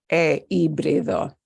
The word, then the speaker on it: híbrido: It would have to instead, because it's HI and the H is silent, it would have to be híbrido.